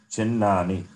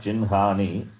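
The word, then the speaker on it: चिह्नानि: Pancha chinnani. Panchachihani, yeah. Not chinhani. Pancha chinnani. Panchachinnani. Okay. Hakara also becomes nakara. This I told. Yeah. Hakara followed by this nakara. Also it is pronounced as nakara.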